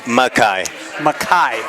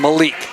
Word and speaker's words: Makai: I always pronounce his name wrong. Say it for me. First name. Makai. Okay. Yes. I call him Malik.